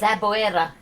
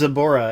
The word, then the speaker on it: Zaboera: But Zaboera. uh-oh. Yeah, there's another enemy whose name is Zaboera. It's spelled Zaboera. Yeah, and the dub says Zabora, and it's like, come on, Zaboera is not unpronounceable or anything.